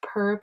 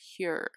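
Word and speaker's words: Pür: For my highlight, I'm going to use the same Per palette. And just to make a quick clarification, it's actually pronounced pure, not per.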